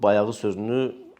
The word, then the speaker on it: bayağı: They write the word the same as we do, but the letter “Ğ” is not pronounced according to the Turkish orthoepy rules. The vowel before the letter is pronounced longer, so they pronounce it as “baya:⁓ı”.